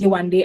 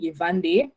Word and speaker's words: Yewande: for my name um in germany w is pronounced as v so people call me evander i yeah i that's